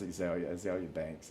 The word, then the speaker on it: Azealia: Of course, it wouldn't be, but it's pronounced Azalea Banks, and she's had a couple of good songs that I like.